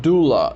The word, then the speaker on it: doula: a new term and that new term is pronounced doula d-o-u-l-a and the spanish translation for that is